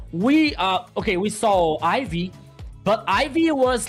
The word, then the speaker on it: Eevee: Oh well I wanted to ask you is it Ivy or Eve? Been saying it wrong the whole time. It depends. It depends on the place you know. Here we we Okay. Here in Brazil we say Eevee.